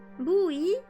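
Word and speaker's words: buoy: Oh, is that how you say the word that is weird? Booey? Even though it's spelled B-U-O-Y whatever? Okay.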